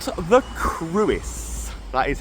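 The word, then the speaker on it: Crwys: Uh and we're going to start yeah with this then it's called the cruis.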